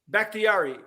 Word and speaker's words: Bakhtiari: Bakhtiari. Sometimes I want to say Bacharach. Yeah, listen, you're going to get the name wrong anyway.